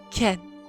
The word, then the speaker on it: Kin: was aided by tms akin pronounced ken is a very timid